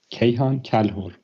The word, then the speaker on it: Kayhan Kalhor: Is it Kayhan Kalhor? Yes, thank you. I always get the last name wrong.